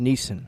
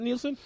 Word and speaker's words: Neeson: Okay, It's pronounced Neeson. Neeson. Is it Neeson? Is it Neeson? Not Nielsen?